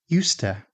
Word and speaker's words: used to: Careful pronunciation might sound like used to, but in everyday speech, again, the d often merges with the following t. So used to can sound like yoos-ta.